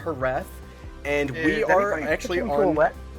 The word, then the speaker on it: Jerez: a lot of people like to call it Jerez, but it's pronounced Jerez, and we are actually on...